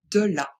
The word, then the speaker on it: de la: De là, attention de Il faut bien prononcer le e. E, ce n'est pas, ce n'est pas e. C'est bien euh donc on dit de là.